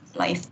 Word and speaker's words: läuft: Ya, bacanya läuft. Ya, läuft.